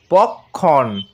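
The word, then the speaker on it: পক্ষ্ম: প কয় মর্ধান্যস আর তারও নিচে ম এর উচ্চারণ হবে পক্ষণ ভালো করে উচ্চারণটা লক্ষ্য করো পক্ষণ অর্থাৎ শেষে একটা ন এর উচ্চারণ আসবে এই পক্ষণের অর্থ পালক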